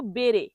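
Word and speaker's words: bere: পরের শব্দটি হলো বেরে। বেরে নরমাল উচ্চারণ বেরে।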